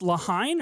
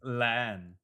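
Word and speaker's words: La Haine: Is it pronounced Lahine or Leah? It's Len.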